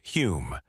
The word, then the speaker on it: Home: One of the most notable was Daniel Douglas Holm, pronounced Hume, a Scottish-born medium of extraordinary charisma and talent.